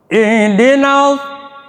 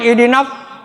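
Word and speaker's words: اهْدِنَا: Sad nih sad jangan idin gitunya salah idin idinalad bibir itu enggak ada apa tuh idinal idinal ditahan tapi anginnya tetap harus keluar karena itu hamsir ya harus keluar ihdin ihdinasiratal mustaqim coba Ihdinasathal mustaqim.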